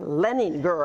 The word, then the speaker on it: Leininger: That's right. Leininger. I didn't pronounce that E.